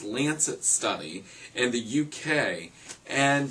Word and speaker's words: Lancet: There was I believe this is pronounced Lancet study in the UK, and they looked at how alcohol is compared to all these major hard drugs.